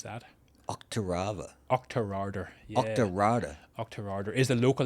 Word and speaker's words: Auchterarder: So, and we just luckily there's a little village called Auchterarder. Pronounce that. Auchterarder.